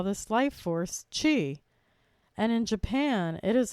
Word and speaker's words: Qi: in acupuncture the Chinese call this life force Chi and in Japan it is also called Chi but it is spelled Qi as in Chiang in Hawaii it